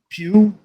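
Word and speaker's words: Florence Pugh: know even uh uh what's her name Florence Pew is that how you say her name Pew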